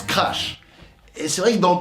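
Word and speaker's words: Краш: Leur morceau s'appelle Crush, mais en russe ça se prononce Crash.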